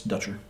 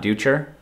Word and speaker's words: Dutcher: here with uh richard ducher hi richard it's dutcher not duecher no it's richard dutcher all the other interviews